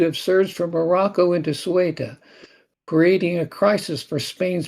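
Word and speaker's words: Ceuta: Most of these people are coming from Morocco into how is that city pronounced? Uh Sueta. Sueta in Spain.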